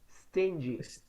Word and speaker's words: stingy: spend money okay but remember that it is pronounced stingy stingy no no no no no a stinky